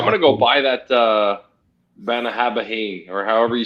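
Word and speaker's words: Bunnahabhain: I'm going to go buy that Banahabahain, or however you say it. How you say it again? It's spelled Bonahaven, but it's pronounced with a V, like the way Cuba does. It was Bonahaven.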